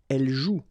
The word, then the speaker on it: joue: combination of the vowel O and U, and together, you know that they produce the sound OU, okay? And it's exactly the same rule, so you've got this after, but then clearly you don't pronounce it, okay? Elle joue.